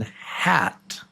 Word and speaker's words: hat: The first sound is ah. This is a short A as in hat. Ah, hat. That's the short A.